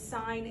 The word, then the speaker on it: sine: did not um so even though they're abbreviated as s-i-n and c-o-s we still pronounce them as sine and cosine just like t-a-n is tangent uh these two formulas